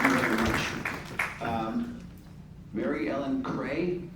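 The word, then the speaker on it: Kreye: Mary Ellen Cray, did I pronounce it correctly? K-R-E-Y-E? Yes.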